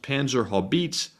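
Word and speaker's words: Panzerhaubitze: And up next, we have a $12 super chat from Shannon Jane, who says, just a heads up, it's pronounced Panzer Haubitze.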